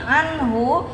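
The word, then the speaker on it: عَنْهُ: Kalau yang di sini anhu ketemu huruf ha hukumnya izhar dibaca jelas.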